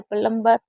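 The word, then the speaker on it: plumber: तो हमेशा बी एम और बी होगा तो भी साइलेंट होगा। और बी और टी होगा तो भी बी हमारा साइलेंट ही माना जाएगा। ठीक है?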